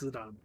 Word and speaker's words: Zidane: Everybody's been pronouncing it wrong, understandably. It's Zidane.